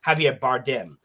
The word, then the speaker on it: Javier Bardem: Javier, excuse me, I said his name wrong. Javier Bardem.